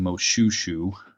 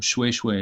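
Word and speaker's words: Moshoeshoe: so and the the the single oh is pronounced like a double o at least in southern African languages that I'm acquainted with so mu swoosh way anyway / NCA ssin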